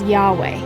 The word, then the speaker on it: Yahweh: create the lord's name the lord's name is pronounced by most biblical scholars and hebrew linguists as yahweh according to jewish practice